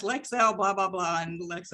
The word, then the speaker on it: Lexel: one time and said how do you pronounce the name of your product and she she told me lexel and every time she she every time she she was telling me she she said yes lex hell blah blah blah and